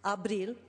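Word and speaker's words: Ապրիլ: In the Armenian language, the month of April, pronounced Abril, means to live.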